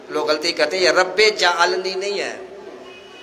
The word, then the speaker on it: رب اجعلنی: غلطی کرتے ہیں، یہ رب اجعلنی نہیں ہے، رب جعلنی نہیں ہے، یہ رب اجعلنی، صحیح تلفظ یہ ہے، صحیح لفظ یہ